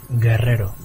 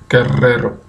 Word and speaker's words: Guerrero: Guerrero, Guerrero. Guerrero, Guerrero, né? Guerrero. Então, o último é Costa, penúltimo é Guerrero.